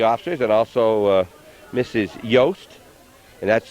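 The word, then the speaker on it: Jost: St and and her name is y it's pronounced yast we met her this morning we'll be talking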